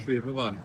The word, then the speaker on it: Schwebebahn: Schwebebahn. Ah, thank you. See, I said I'd get learnt. We've come here today to see the Schwebebahn.